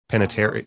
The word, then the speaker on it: Panettiere: Panettiere. Like I every time I see her name, I have like a little seizure. Panettiere, Hayden Panettiere.